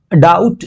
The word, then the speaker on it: doubt: तो देखिएगा डाउट में, देखिएगा जैसे कि डाउट लिखा गया तो डाउट में डाउट यानी आउ इसको पढ़ा जा रहा है, ठीक है, यानी कि बी का उच्चारण नहीं हो रहा है।